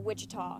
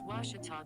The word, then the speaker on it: Ouachita: at a baptist university back in texas everybody pronounces it wichita but really it's ouachita washington washington how would you pronounce it it's washita baptist university get it right it's watertall people